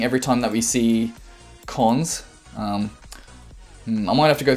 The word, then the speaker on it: cons: operation is colon dot we call that that's pronounced cons and cons represents an